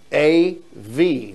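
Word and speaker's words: אב: So we have A-V. That's how you pronounce that, Av.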